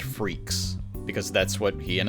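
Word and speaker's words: Freecss: German anyway also kind of fitting that it's pronounced freaks because that's what he and his dad are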